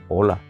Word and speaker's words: ola: olas del mar, pero es una palabra que se escribe sin H, pero se pronuncia similar a esa primera palabra que yo siempre digo en mis vídeos, hola.